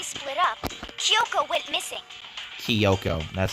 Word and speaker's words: Kyoko: soon as we split up kyoko went missing kiyoko that's how you pronounce it all right soon after that hina